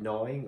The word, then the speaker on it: gnawing: all that drawing and all that gnawing on strawberries that's another one no like to chew on something to eat something i work with the silent g what's she doing though